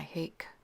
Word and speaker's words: hake: my hake brush and it's pronounced a few different ways but I call it my hake brush just starting to put